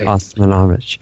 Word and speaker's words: Osmanagich: I want to pronounce Osmanagich. That's okay. Osmanagich.